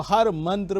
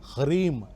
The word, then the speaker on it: ह्रीम: वो हर मंत्र में इस्तेमाल होता है। मंत्र इस प्रकार से है, ह्रीम ह रा ई म, यानी ह्रीम।